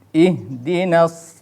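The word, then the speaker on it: اهْدِنَا: Ihdinas siratal mustaqim. Ihdina. Nah, itu juga harus diperjelas pengucapan hamzahnya yang berharokat kasroh.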